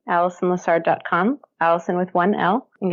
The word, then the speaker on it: Alison Lessard: me on my website which is my name Allison Lessard comm Allison with 1l and you'll have the